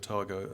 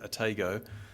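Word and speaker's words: Otago: to New Zealand because I naturally said ATO and um kiwi immediately said to me we just think of Wells Fargo it's a tago so um it may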